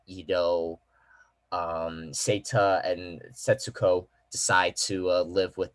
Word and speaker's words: Setsuko: then the little girl uh the sister is named uh setsuo sensuo yeah setsuko there you go yeah yeah